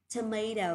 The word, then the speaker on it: tomato: Tomato or tomato đều được nhá.